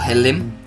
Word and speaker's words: halloumi: get our turkish cheese our halloumi or helium as it's meant to be pronounced and we're gonna sprinkle